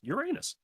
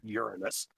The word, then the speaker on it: Uranus: proper way which is the original way which is based on latin and everything else like that is actually pronounced uranus it's not uranus so you just say